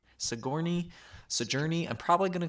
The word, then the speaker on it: Sigourney: And I believe it's Sojourner Weaver. Is that how you say her name? Sigourney.